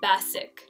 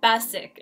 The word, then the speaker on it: basic: Another mispronunciation that I often hear, again with the A sound, it's basic. They say basic. So it's the same mistake, basic instead of basic. So again, you just want to show them that long A sound.